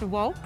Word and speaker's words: WOCC: of color in cannabis so it's WCC pronounced woke we met at a